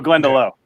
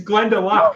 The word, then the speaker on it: Glendalough: Donald from Glendalough yeah no Glenda Lowe Wendell Lowe oh okay okay I only corrected you because it sounded like you were correcting me right now is how you say it it's Glenda lock it means it means